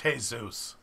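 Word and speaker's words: Jesús: a hole in it first off it's pronounced hey Zeus we love you read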